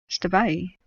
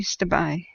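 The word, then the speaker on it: Stabiae: Now, Stabai, at the end of the word, has an AE, which is a hard E sound in Greek. And the Greeks colonized southern Italy first, and so it would have had a very Greek-leaning pronunciation, at least in the early years of its existence.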